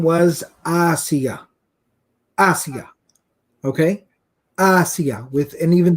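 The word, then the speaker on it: آسية: and her name was Asiya. Asiya. Okay? Asiya. And even those who are particular about Arabic pronunciation, it's with an alif and not an ayn.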